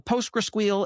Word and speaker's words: PostgreSQL: As a consumer of this, I'm calling a PostgreSQL API. Yes, that's how I pronounce it.